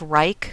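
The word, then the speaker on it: Wrike: been made personally i'm a big fan of reich which is spelled w-r-i-k-e a lot of people like asana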